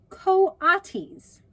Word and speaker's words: coatis: "Oh, pronounced coatis."